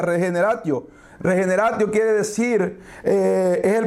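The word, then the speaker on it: regeneratio: Es un término latino Es un término latino que se pronuncia regenerati regenerati quiere decir es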